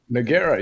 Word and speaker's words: Nogueira: That's how you pronounce it, right? Nora. Noera.